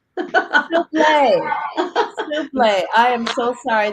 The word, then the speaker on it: Soublet: Author's Lounge Miss Beatrice Sublet. Hi, Beatrice. How are you? I am well, I am well. And it rhymes with toupee, souble. Soublet.